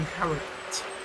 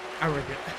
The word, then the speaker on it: Harrogate: Now, for anyone who doesn't recognise it, the Yorkshire World in ZWIFT is based in Harrogate, or pronounced correctly, Harrogate.